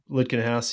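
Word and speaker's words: Lutkenhaus: Litkenhaus from America. Correct. Lutkenhouse.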